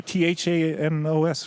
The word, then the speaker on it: Thanos: you keep going okay can you pronounce it thanos there we go that's the one okay like oh great